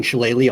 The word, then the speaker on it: Shillelagh: He's going to be casting Shillelagh almost nonstop, so just assume it's done all the time. I didn't know Shillelagh was a spell.